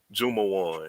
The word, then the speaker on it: Jumawan: So one is Abu, and then another one is Landon Jumawan. That's how you pronounce the last name. His daddy told me how to pronounce it last night.